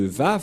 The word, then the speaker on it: Vav: J'espère que vous voyez bien maintenant que la prononciation de Vav, c'est V. Voilà le Vav. Le phonème de ceci, lorsque on prononce avec votre bouche et votre langue, c'est V d'après Wikipédia. C'est-à-dire, personne ne peut contester le Vav, c'est bien un V, la bonne prononciation.